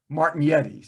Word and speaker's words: Martignetti: Well, I'm not doing Martignetti. I do Martignetti, but I'm not the 100% participation. The 100% pronunciation would be Martignetti.